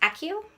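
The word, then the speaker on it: Accio: Harry uses the spell a co2 or Akio I think Akio is the correct pronunciation Harry uses the spell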